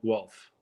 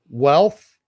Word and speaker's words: Guelph: The town's called Guelph. Wealth? Guelph. How do you Guelph. spell that?